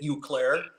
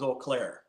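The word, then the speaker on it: Eau Claire: I first moved to Wisconsin I I I pronounced it uair you did yep yep and and folks let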